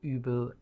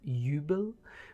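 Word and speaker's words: Übel: used as such um I did hear that fans voice actor actually or voice actress actually pronounced ubil Yubel which is not entirely correct she did a very good job of it otherwise but it's called UB right um then we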